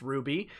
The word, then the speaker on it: RWBY: for the animated series rwby pronounced ruby manana had a role